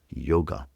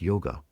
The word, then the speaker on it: yoga: In India, yoga is not pronounced yoga. Some of you will be surprised by this. When you go to India, you'll hear people pronouncing the word yo. Yo, y o g. The a is elided.